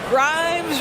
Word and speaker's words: Grimes: Grimes rhymes with dimes on time right there.